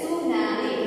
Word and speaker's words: tsunami: It is T is silent, of course. Okay, T is silent. Tsunami.